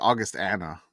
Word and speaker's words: Augustana: Oh wait, I swear it's like Augustana, but yes, okay. Augustana. Okay, It all flows together, but August and the name Augustana.